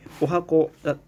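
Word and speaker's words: 十八番: ショートプログラム入れてお箱 18 番ってお箱って読むんですよねだって同じ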